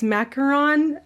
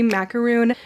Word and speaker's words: macaron: do not offend anybody it's macaron i sometimes say macaroon people always get very upset